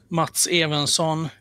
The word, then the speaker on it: Mats Evensson: And so I'm bringing on my good friend and writer, Mats Evensson, and he can pronounce his name the correct way. Welcome. Thank you. And yeah, it's mostly correct. Mats Evensson.